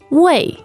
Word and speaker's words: 位: The key word for today is wei. Wei. Wei. Now, that sounds like a fourth tone.